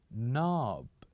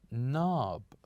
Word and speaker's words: knob: knob say after me knob so here we have knob starts with k n o b but when we pronounce it we only say we keep the K silent and we only say knob knob knob which is